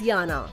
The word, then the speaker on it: Jana: Her name is actually spelled as Jana and pronounced as Yana.